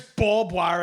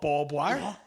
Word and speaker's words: barbed wire: public because it because barbed wire isn't the term that's just you saying it wrong that's not a collective